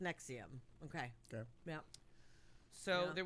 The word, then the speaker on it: NXIVM: It is pronounced Nexium.